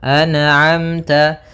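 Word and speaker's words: أنعمت: Maka hati-hati dalam melafalkan huruf atau bacaan an'amta jangan sampai terpantulkan. Misalkan anamta alaihim anamta memantul huruf nunnya karena sifat nun tidak boleh mantul.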